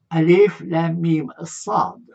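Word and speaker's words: المص: وأعطيكم هنا قائمة بهذه الأحرف المقطعة: ألف لام ميم صاد، هكذا تلفظ، أحرف مقطعة تجدوها في سورة الأعراف.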